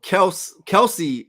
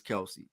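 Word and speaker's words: Kelce: thing that's crazy so Kelsey is what we call them but according to Jason their last name is pronounced Kels but everybody just says Kelsey so that's just crazy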